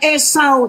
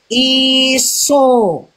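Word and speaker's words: عيسى: Huruf A dan U dalam bahasa Latin dia menjadi U. Maka bacanya bukan Esau tapi iso.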